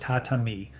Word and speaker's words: tatami: The tatami mat, pronounced tatami, woven from a rush grass called igusa over a compressed rice straw core.